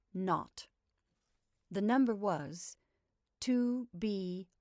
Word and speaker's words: 0: were supposed to call the zero in the telephone number he pronounced not the number was to